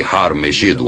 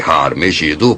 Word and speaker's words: Har Magedon: Em hebraico, Megido era na verdade Har Megido, a montanha de Megido.